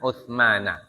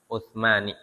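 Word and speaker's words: عثمان: Maka bacanya an Utsmana ya, bukan an Utsmani ya.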